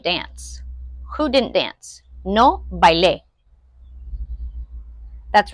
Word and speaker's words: bailé: No bailé. That's right. I didn't dance. Because I said E with the accent on the end, bailé, I didn't dance.